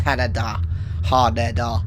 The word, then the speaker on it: Haneda: It's Haneda, Haneda. That's how you say it in Japanese.